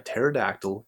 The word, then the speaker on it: pterodactyl: can't you hear a pterodactyl going to the bathroom the answer because the p is silent all right without